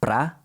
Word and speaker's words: para: Pro is just a spoken contraction of para, which is usually pronounced pra, and the definite article u, literally to the.